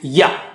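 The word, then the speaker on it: ي: Same makhraj. The middle of the tongue touches the palate or roof of the mouth, and you say ya, ya, ya, ya.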